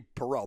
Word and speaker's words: Perrault: I'm saying my name should be Perrault, by the way, in case you don't know that.